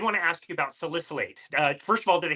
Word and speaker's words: salicylate: So I did want to ask you about salicylate.